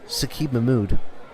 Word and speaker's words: Saqib Mahmood: It's Saqib Mahmood. We have to pronounce it like he wants us to. Saqib Mahmood.